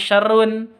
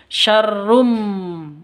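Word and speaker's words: شرٌّ: tanwin bertemu dengan mim cara bacanya masuk ke mim Rum seperti itu bukan syarrun tapi syarrum mingkem Nah masuk ke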